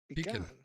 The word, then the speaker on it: pecan: Pecan. Pronounced pecan.